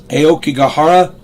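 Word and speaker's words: Aokigahara: bear with me aara a I'm going to spell it a o k i g a h a r a AO kahara jukai J UK k a i aoka gahara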